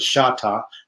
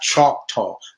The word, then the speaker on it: Choctaw: She was a Shatta, not Choctaw. This is another thing that the whites mispronounced the name of the original Native Americans, or